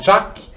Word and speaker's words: Jacques: Só que ele mudou o nome para Jacques, em francês não se pronuncia S, Jacques, e Offenbach.